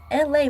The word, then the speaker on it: Elay: I'm your host, LA, pronounced like LA, like the city.